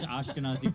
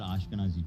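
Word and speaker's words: Ashkenazi: No, but it rhymes with Nazi.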